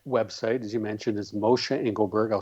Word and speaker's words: Moshe Engelberg: Well, my website, as you mentioned, is Mosha Engelberg. I'll spell it because it's not an easy name.